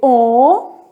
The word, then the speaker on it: homenagem: Homenagem, o H não é pronunciado.